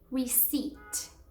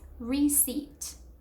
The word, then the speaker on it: receipt: The first one is receipt. The P is actually silent. So no pronouncing the P at all. It is receipt.